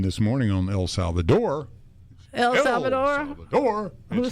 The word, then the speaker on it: El Salvador: El Salvador?